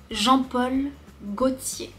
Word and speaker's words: Jean-Paul Gaultier: Septième, Jean-Paul Gaultier.